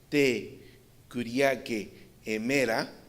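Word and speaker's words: τῇ κυριακῇ ἡμέρᾳ: Dice Marcartur, la frase griega traducida aquí el día del Señor y él la pone aquí como se pronuncia te curique emera, es diferente a la que encontramos, por ejemplo,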